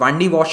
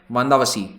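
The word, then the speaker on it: வந்தவாசி: Battle of वांडी वॉश कहते हैं इसको ब्रिटिश। तमिलनाडु में इसका तमिल नाम है वांदावसी, ठीक है। तो इसको वो लोग प्रोनाउंस नहीं कर पाते थे, तो इन्होंने कर दिया वांडी वॉश।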